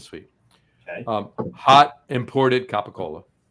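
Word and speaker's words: capicola: Um, hot imported capacola. Thank you for pronouncing it properly and not like a new tri-state area.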